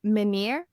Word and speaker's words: Menyr: it's at Sailing Menir. Menir is the name of the boat. It's spelled Okay.